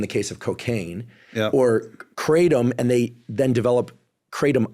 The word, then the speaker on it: kratom: I think the proper pronunciation is kratom.